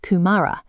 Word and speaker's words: kumara: You pronounce it kumara.